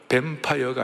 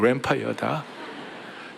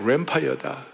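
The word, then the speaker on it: Lanphier: 대신 발음은 잘하라. 뱀파이어가 아니고 램파이어다. 제레미야 램파이어다.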